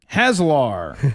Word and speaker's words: Haslar: And by the way, my name is pronounced Haslar.